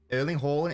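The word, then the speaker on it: Erling Haaland: might enjoy it uh you're saying earling's name wrong no I am not um early horn is a perfectly acceptable pronunciation speak to a Norwegian in 2018 Docker trained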